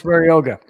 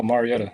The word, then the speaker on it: Mariota: It's going to be Marcus Maroga. Yeah, Marty. Oh, Mariotaa. Okay. Marcus. I butchered that name, didn't I?